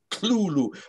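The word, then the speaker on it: Cthulhu: to pronounce clue clue it's two syllables sure the t cta the th is not really a th it's kind of like a harsh l sound it's clulu because there's another story um where a variant term is used tulu t-u-l-u so um that's sort of how it's meant to be pronounced but actually i've admitted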